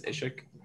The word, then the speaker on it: Ishik: actually pretty funny because no one pronounces my name correctly even in my own class so i've been trying to keep that hidden but it's uh it's ishik yeah okay sh yeah